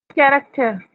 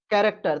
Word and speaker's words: character: कैरेक्टर। कैरेक्टर। तो यहाँ पे ये CH चा नहीं पढ़ा जा रहा।